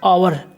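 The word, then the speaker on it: hour: इसमें क्या रहता है silent H आवर एच ओ यू आर आवर यानी घंटा लिसन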